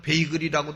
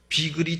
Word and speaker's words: bagel: 그것을 bagel 비을 빵이라는데 사람들은 베이글이 하고 비글이 하는데 비글이 정확한 발음인 거 같습니다 근데 아 비글